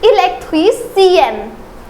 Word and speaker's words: électricienne: Again, the pronunciation will change. It is électricien, but it is électricienne.